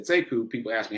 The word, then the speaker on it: Sekou: he pronounces it differently he pronounces it siku siku but it's spelled the same so when i came along i said seku people asked me how